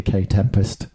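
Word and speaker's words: Kae Tempest: was doing like a K Tempest impression. K Tempest. I said K Tempest. Yeah. I thought you mispronounced it. Well, you were wrong, weren't you? Then I remembered they are a K.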